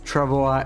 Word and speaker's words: travois: So yeah, apparently that's Travois is the correct pronunciation, but that's the French pronunciation, right? We don't know what's the proper English one. Is it still Travois? Because like English borrows some language, some words from French, but it's not always the same pronunciation.